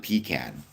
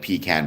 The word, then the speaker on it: pecan: Well, I pronounce it pecan, like pecan pie. I don't pronounce it pecan pie because that's weird, and only foolish people do that.